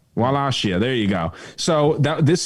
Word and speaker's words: Wallachia: Is that how you pronounce it? Wallachia. Wallachia, there you go.